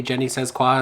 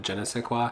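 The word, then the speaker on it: je ne sais quoi: once saw somebody say Jenny says qua instead of Jenna say qua and now I just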